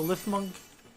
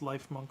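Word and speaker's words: Lifmunk: start you out earlier this is a LIF monk I'm I think it's supposed to be pronounced life monk but LIF monk Effigy those are used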